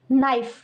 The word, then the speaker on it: knife: KNIFE, नाइफ। Guys, इसमें के silent है, इसलिए इसको नाइफ बोलेंगे।